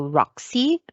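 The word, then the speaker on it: WROXI: samples you want to look into roxy which is spelled as w r o x i so it stands for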